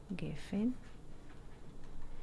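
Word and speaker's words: גפן: The vine in Hebrew, gefen, and when we divide the word gefen, 1 second, gefen is this pronunciation in Hebrew, gefen.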